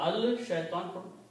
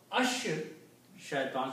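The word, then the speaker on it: الشيطان: एज I said बज लाम sound has become sheen sound now सो य pronounce र pronoun अल शैतान अश शैतान सो य हैव टू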